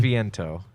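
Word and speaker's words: Beneviento: Ben Ben it's like it sounds Italian it's Italian benavento I'm fairly certain that's how you pronounce it and her puppet Angie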